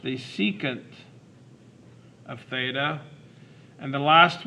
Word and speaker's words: secant: The next one is SEC, which is pronounced the secant of theta.